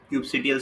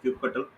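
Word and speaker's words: kubectl: Cubectl someone says cubectl someone says cube cutle. Different ways to pronounce it.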